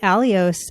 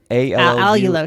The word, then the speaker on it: allulose: So I ate Alios and I had a horrible reaction to it because it fired up my whole colon. So I'm surprised you said Alios. Allulose. Sorry, I always pronounce it wrong. Allulose.